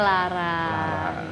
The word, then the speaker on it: Loro: Bahasa Jawa, Loro kan Loro. sebenarnya, tapi bacanya Lara. Gitu.